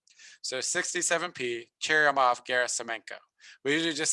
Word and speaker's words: Churyumov-Gerasimenko: So this comet is Comet 67P Churyumov-Gerasimenko. I almost want to give people bonus points if they can make a video of that and send it to me, pronouncing it correctly. So 67P Churyumov-Gerasimenko.